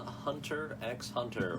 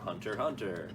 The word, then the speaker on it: Hunter x Hunter: hunter x hunter or hunter hunter it go and I've heard both ways how do you pronounce it up to you it's sort of the thing with those you're not supposed to say it yeah I've always been